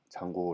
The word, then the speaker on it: Django: 1 카드를 쓰고 있습니다 그래서 옷도 django 뒤는 묵음 이라고 해서 장고 라고 있습니다 어휘 풀이 뭐 컥